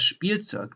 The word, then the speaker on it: Spielzeug: So you pronounce like a SCH and then a P in addition. For example, you have das Spielzeug, the toy.